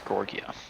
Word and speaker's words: Georgia: and the 24th gorgia that's actually how you pronounce Georgia it's not Georgia it's gorgia gor okay and they're going to be uh